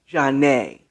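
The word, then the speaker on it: Zhané: more than one called janae spelled z-a-n-e and i think there's a stress over the e jarnay and it was part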